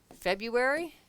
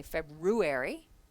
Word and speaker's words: February: in there February okay has an r in it we don't say that R we don't say February we say February but when we're spelling it we need to make sure that we put all the letters in number three position of